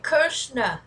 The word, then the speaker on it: KR$NA: Oh, he said his name, Krishna. I was saying it right.